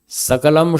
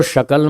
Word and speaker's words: सकल: सकलम सकलम इति माभूत यह एक शास्त्र में लिखा उदाहरण सकल को शकल मत बोलो हे शकल जगत के